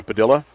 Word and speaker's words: Padilla: match right now with lean Hollenberg uh Brenda Padilla and that is the correct pronunciation and Stephanie Nation who shot up with